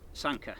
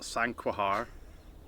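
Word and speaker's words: Sanquhar: Sanka. Yeah, Sanka. Sanka. Um it's not SQA like a lot of tourists might call it.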